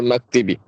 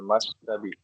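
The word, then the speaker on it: مكتب: Hiya tahtal maktibi. Iya tahtal maktabi. Oh, maktab. Hiya tahtal maktabi. Ya, jadi ini dibacanya maktab ya Pak. Dari maktab Siap Ustaz. dengan menfathahkan mim maktab.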